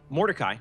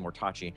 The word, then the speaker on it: Mordecai: On the left side of your map, we have Mordecai, almost said Mortachi.